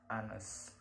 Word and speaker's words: honest: It is also not pronounced at the beginning of the word, like our and honest.